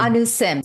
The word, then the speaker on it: Anu Simh: It's Anu Sim. Sim. The H is silent.